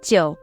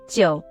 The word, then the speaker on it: 九: This character is the 3rd tone, so it should be 9.